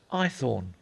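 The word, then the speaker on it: Haythorne: my name's what I asked sir ithor spell it h a y t h o r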